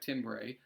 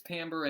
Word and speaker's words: timbre: and by the way I know it looks like timbre or whatever our timbre if the e silent but either way it is Tambor and Tambor essentially is